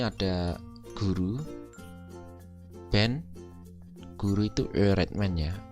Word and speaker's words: öğretmen: Misalkan di sini ada guru, ben, guru itu öğretmen ya. Öğretmen ini bukan o biasa tapi ö, bacanya agak ditekan.